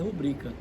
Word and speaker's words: rubrica: sílaba tônica por exemplo Qual é a palavra certa rubrica ou rubrica a palavra correta é rubrica Qual é a palavra